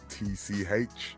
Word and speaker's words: Misch: So for instance, if you listen to any of Tom Misch, I always say his name wrong, it's Mitch.